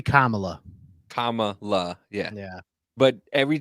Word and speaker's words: Kamala: then what is it Camala it's supposed to be Kamala Kamala yeah yeah but